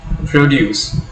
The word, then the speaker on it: produce: Produce, when you are stressing the first syllable, when you are putting an accent over O, produce, it refers to the noun.